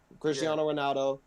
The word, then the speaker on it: Cristiano: Lionel Messi, like Cristiano Ronaldo.